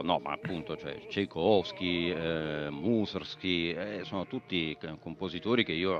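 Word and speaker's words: Mussorgsky: l'ho cantato però no ma appunto cioè Tchaikovsky Moser Sky sono tutti compositori che io amo molto musorgsky si pronuncia Sì sì sì bene Vedi che mi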